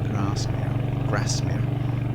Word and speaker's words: Grasmere: on to Ambleside and Grasmere, as it's pronounced in the north of England, the A's are short.